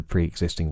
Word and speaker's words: pre-existing: word existing is the pre-existing word in pre-existing right so if that's the case then we use the fleece vow which is a long e vowel just like in presupposition but if not then